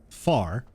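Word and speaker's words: fear: brief uh the their their words for man and woman man is uh far which is spelled f-e-a-r and uh woman is bond which is b-e-a-n so Sean kind of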